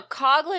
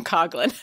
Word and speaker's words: Coughlin: but i don't know coughlin is how i know to pronounce it because that's how they pronounce it in the olympic announcers so there you go okay so one person with the same spelling pronounces their name coughlin so we're going with